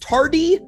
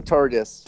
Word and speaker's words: TARDIS: Perhaps this is pronounced tardy in the Tooth and Claw? No, it's the TARDIS.